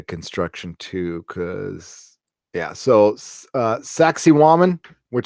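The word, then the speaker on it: Sacsayhuamán: So Sacsayhuaman, which sounds like Sacsayhuaman, but that's how you pronounce it.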